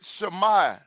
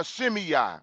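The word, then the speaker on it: Shimei: We're also going to deal with Shami or Shimi as some people pronounce his name.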